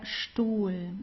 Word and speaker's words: Stuhl: And then whenever you have an ST at the beginning of a word, you also pronounce it as st. Okay, so here it's der Stuhl, also masculine, okay, der Stuhl.